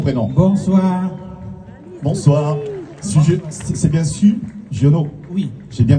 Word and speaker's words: Sugiono: C'est bien Su Giono? Oui. J'ai bien prononcé.